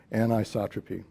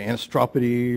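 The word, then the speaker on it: anisotropy: they want to say anistropy or something you know they you got to put it on put the right emphasis on the correct syllable there all right well that's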